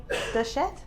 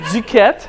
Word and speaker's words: Duquette: And this is Duchette. How do you See? See? I couldn't even see, and I'm French. I didn't even know how to pronounce it. So there we go. I'm Duquette. Okay, Duquette. Yeah.